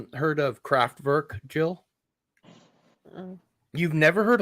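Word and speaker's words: Kraftwerk: of craft work Jill um you've never heard of craft work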